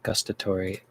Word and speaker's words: gustatory: How do you pronounce gustatory?